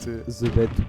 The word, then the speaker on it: ZBD: Alors, il faut savoir que ZBD, ça se prononce The Bed, et c'est un joueur